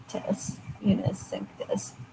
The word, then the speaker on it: unicinctus: Unicinctus. Yeah, Unicinctus. Yeah, I pronounced it right.